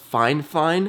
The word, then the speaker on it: FIFINE: or go to Amazon and let me just type in fine fine it's spelled f i f i n e but it's pronounced fine fine gaming mixer or you